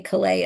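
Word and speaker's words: Calais: Um, in the fall of 1941, a group of well-known people from Callus, you'd say Klay in French, but I believe Callus Maine is how it's pronounced, including historian Ned Lamb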